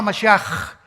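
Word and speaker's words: משיח: Se escribe Mashiach. Jesús el Mesías en el hebreo. Pero se pronuncia la CH. Yeshua Mashiach.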